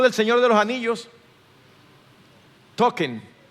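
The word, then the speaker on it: Tolkien: Token es así que se pronuncia, profesor en inglés sabe, no vaya cosa que yo lo estoy diciendo aquí en CBA token.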